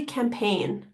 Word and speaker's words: campaign: spelled as it sounds this g is silent so just remember that there is a g there so that's why it's